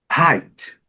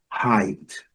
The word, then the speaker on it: height: Height, altura. A gente tira aqui o GH, pronuncia o E, o E com som de, o EI com som de I. Height.